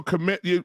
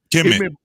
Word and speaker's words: Kemet: So commit. Say it again. Because maybe illuminate me. I'm pronouncing it wrong, but it meant black. Kemet.